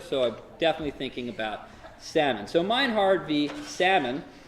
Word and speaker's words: Sahlman: question show of hands who would like me pronounce it sawing we would like to say salmon alright salmon wins I will go with salmon this class alright that's probably